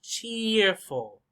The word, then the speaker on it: cheerful: see cheerful cheerful cheerful where's the stress cheerful cheerful number one cheerful the strong one is cheer cheer cheer cheerful this one you could